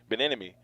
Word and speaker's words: Bieniemy: I always say his name wrong, Bieniemy, and that's who he wanted, and they were going to include him on decisions.